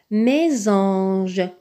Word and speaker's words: mésange: Dans mésange, on voit un S. Ce S, on voit qu'il est placé entre deux voyelles, le E accent aigu et le A. Dans ce cas, le S se prononce Z.